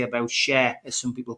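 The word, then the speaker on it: Schär: It's Fabian and Sher, I've been told, but I don't feel comfortable calling them Sher. I know this is the music section coming up, but I do I do think it's Fab and Shaw. It's spelled Shaw.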